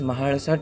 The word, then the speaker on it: Mahalasa: the southern Indian languages, we have a special L which is pronounced as La. La. La. which is a retroflex sound, which Okay. is pronounced by twisting your tongue and hardly attaching it to the palate.